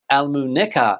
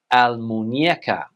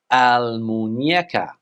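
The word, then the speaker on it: Almuñécar: Almuneca is what a lot of English people would say, but the correct pronunciation in Spanish is Almuñeca. Almuñeca.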